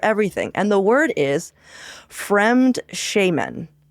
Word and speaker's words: Fremdschämen: And the word is Fremdschämen. And it's spelled exactly how you would think it would not be spelled, by the way, just so you know.